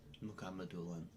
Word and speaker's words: Mukhamadulin: Mukhamadulin. That's the correct pronunciation.